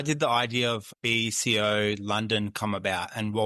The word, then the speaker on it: BCO: How did the idea of BCO London come about, and what was the initial vision?